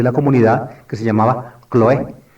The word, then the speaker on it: Cloé: comunidad, que se llamaba Cloé, o Cloí, los griegos modernos pronunciarían Cloí.